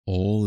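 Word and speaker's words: awl: So when you hear this word, it sounds like a word for everybody, but it actually means boring implement. Now, a word for everybody is all. And a boring implement is an all, isn't it? It's spelled with a W, A-W-L.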